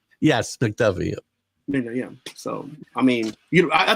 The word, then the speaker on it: McDuffie: I don't want to mispronounce his name. Is McDuffie? Is that right? Yes, McDuffie.